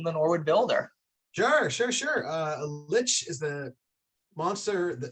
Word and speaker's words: lich: So what I've got is that you have, is it pronounced a like or a lick? This is a monster? Lich. Lich.